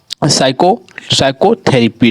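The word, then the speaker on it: psychotherapy: और आगे हमारा साइकोथेरेपी, ठीक है, इस प्रकार से इसका उच्चारण हो रहा है।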